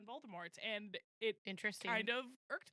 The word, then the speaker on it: Voldemort: Yeah, he definitely is from He's definitely from across the pond and he did not pronounce the T on Voldemort and it kind of irked me a little bit.